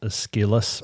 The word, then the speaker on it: Aeschylus: So, and that's from a philosopher named, I think it's pronounced Aeschylus, but I'm not sure.